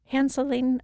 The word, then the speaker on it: Hanseling: podcast i have nikki hanseling i hope i said your last name right nikki how do you say it yeah hanselling okay yes and she is